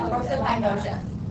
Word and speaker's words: prosopagnosia: Prosopagnosia. Proso and then pagnosia.